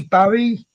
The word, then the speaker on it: Bury: Barry. How do I Berry. pronounce it up there? I call it berry because it's easier for my Berry.